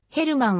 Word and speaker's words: Germán: を務める生は英語読みの場合ハーマンまたはジャーマンと表記される場合がありヘルマンはスペイン語の発音に近い表記となる 1996 年 7 月